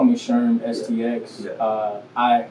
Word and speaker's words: Sherm STX: you can call me sherm stx uh i i pronounce it sherm sticks oh well excuse me